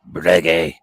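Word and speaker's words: Breguet: channel vert a video we learned how to pronounce it it's brege at the ad they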